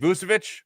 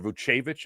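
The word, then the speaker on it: Vučević: Nicolo um uh Nick Vousvich or Vuchevich I think is how they say it now in Chicago.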